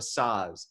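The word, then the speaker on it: saz: there's also it's also called the the the size uh s-a-z and it's it's got it's it's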